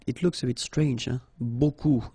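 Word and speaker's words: beaucoup: looks a bit strange Buu like that remember you don't pronounce the final P okay then you get this combination of vowels U and you get the sound o so technically it's B okay so it's not difficult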